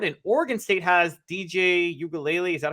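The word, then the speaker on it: Uiagalelei: in cam Ward and Oregon state has DJ ukulele is that how you pronounce his last name perfect so great I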